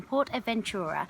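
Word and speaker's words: PortAventura: Port Adventurer Adventura I keep saying it wrong Port Adventura which it was it's basically this incredible theme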